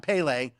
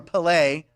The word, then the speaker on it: Pelé: And speaking of soccer, a posthumous birthday to the great soccer icon Pele, or Pelé, different pronunciations right there, Pelé.